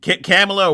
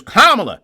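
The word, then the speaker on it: Kamala: If they weren't, they'd come on and they'd pronounce Kamla Harris's name wrong. Call her uh uh Camela or whatever, Camela. And then they'd all freak out, "That's racist. That's racist. Her name is Kamla.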